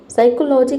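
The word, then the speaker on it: psychology: देख सकते हैं कि यहाँ पे पी के बाद एस वाई आ रहा है, इसलिए हम यहाँ पे पी को नहीं पढ़े। पी का प्रोनाउंसिएशन प होता है, लेकिन आपको प का साउंड इसमें नहीं दिखेगा।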